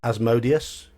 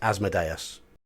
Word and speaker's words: Asmodeus: Deus yep oh yeah I have heard people call it asmodius but that's going to be I think that's gonna be an American thing it's asmodeus that's what myself my friends